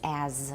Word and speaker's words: as: the normal pronunciation for as the citation pronunciation is as with a z everyone as and when